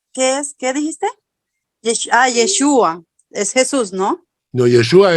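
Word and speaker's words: ישוע: Josué viene a ser Jesús y pronunciado en pronunciado en hebreo yeshua amia Jesús El Mesías no Okay muchas gracias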